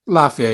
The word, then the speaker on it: Lafia: say his name out loud so is it Lafia Lafia yeah okay um and you know he was